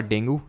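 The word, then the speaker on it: dengue: पे मतलब क्या है तो डॉक्टर से आपका डेंगू या फिर डेंगी जो भी आप प्रोनाउंस करो ठीक है और अभी कौन सी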